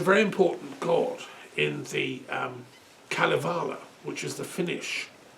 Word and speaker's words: Kalevala: He's a very important god in the Kalevala, which is the Finnish. Kallivalla. That's how you pronounce it. Okay, sorry about The that. Kalevala.